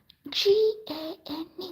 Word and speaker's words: Gane: haven't, this is not Mokume Gane, but this is somewhat yet.